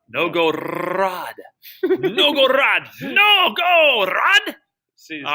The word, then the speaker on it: Novgorod: Do you roll your R like that? Novgorod.